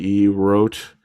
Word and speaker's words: rote: I hadn't heard the term roach before. Is that even how you pronounce it? Do you guys know what I'm even saying? How to pronounce Rote? Rote. Oh, there it is. Let's listen to this lady say it.